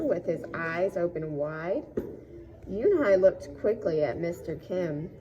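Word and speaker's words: Unhei: Yoonhai looked quickly at Mr. Kim, then turned to Joey. She nodded slowly. "Yes, it's pronounced Yoonhai, and it means grace," Mr.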